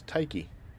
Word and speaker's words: Tyche: So, I believe that if I'm going to pronounce it, the proper way would be to speak as though I was a Greek. The Greek pronunciation. Which is Tyche.